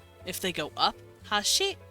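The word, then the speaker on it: 橋: it means bridge and if they go Hashi Hashi and they go down Hashi it's kind of like uh those are chopsticks so they they up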